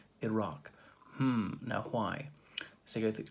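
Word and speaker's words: IRAC: to legal questions is iraq no not the country not spelled like the country i r a c iraq hmm now why let's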